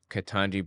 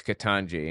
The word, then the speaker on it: Ketanji: He's calling her Jumanji because her name's Ketanji, and Ketanji rhymes with Jumanji.